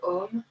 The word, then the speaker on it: Om: Dans cette ouverture, nous allons chanter le Om, qui est le son universel qui s'écrit A-U-M.